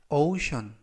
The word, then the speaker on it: ocean: 뜻이 되겠습니다 이번 표현은 션 오션이라고 발음하시면 되겠습니다 이때 유의하실 점은 맨 앞에 있는 알파벳는 오우 발음이 나고요 그리고 뒤에 있는는 이번 단어에서는 예외적으로 발음이납니다 그래서 오션이라고 발음하시면 좋겠고요 품사는 명사 뜻은 대양